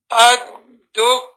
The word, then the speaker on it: الدكان: After the kaf, you have an alif. On the kaf, you have a shadda. On the dal, you have a shadda, so you say ad-dukkanu.